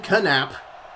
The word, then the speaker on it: Knapp: It's almost intercepted by Ken Knapp. Or perhaps that's Ken Knapp. I'm calling him Silent K from now on.